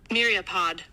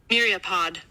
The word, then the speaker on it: myriapod: I would like you to hear how it is pronounced. Myriapod. Myriapod.